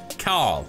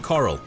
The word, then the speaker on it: Carl: of its real name carl which is a nod to the walking dead and how rick grimes pronounces carl it's kind of like coral a carl carl the original long-standing elimination